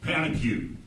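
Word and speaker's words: pétanque: I want to see you pronounce it. Yeah, I'm not really good. My French isn't real great. It's panicue.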